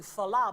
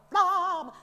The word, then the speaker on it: flamme: and then the flamme, not just like I'm pronouncing, speaking flamme, but flamme, like one consonant, not too much air on the f, flamme, yeah, like boing, yeah, like a laser, yeah, yeah.